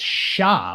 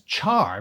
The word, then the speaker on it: Char: In 1990, Char's name was translated as Sha, which could be argued was correct phonetically. But officially, the name had been clarified over the years as Char because Tomino had loosely based him on Charles Aznavour, the French-American singer, actor, and diplomat.